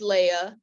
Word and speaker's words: Leah: God had not blessed Leia Leah Leia um both pronunciations are are are accurate to a certain point um so with Leah